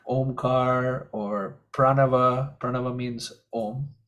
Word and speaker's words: om: syllable om and it's made up of three letters a-u-m so when you say the full Au M it's it becomes om and that's considered the